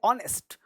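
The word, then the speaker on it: honest: अगला वर्ड है ऑनेस्ट, ऑनेस्ट, honour यानी ऑनेस्ट, ऑनेस्ट। एच क्या है, साइलेंट है, ये ईमानदार आदमी है, देख रहे हो ये ईमानदार है, गेस करो, ऑनेस्ट है, ऑनेस्ट।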